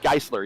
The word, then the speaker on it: Geisler: mid pack now thomas geisler gisler uh actually he says it's it's last name is said like chrysler geisler yes so it's one he's